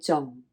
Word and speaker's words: 重: Now, important has a different pronunciation. Same character, different pronunciation. And that is your sixth low tone, 重, right? 重.